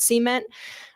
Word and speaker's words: cement: And talking about pouring concrete into boreholes, you're probably thinking of cement, or as in the oil field, we pronounce it cement.